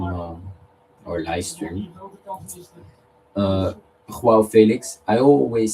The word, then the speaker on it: João: But uh he says, "No, you don't say João." And I don't make it dramatic. He literally said to me "It's not making it dramatic, but this is literally how you say it. It's João, not João." But like a little wave in the in the name.